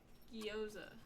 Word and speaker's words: gyoza: Pronunciation. Gyoza.